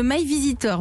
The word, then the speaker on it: My Veasytor: Vous avez 26 ans, vous êtes la cofondatrice de My Visitor, mais ça s'écrit V-E-A-S-Y-T-O-R.